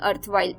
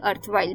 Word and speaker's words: erstwhile: ERSTWHILE, अर्थवाइल। S silent है इसमें, ERSTWHILE, अर्थवाइल, belonging to some prior time.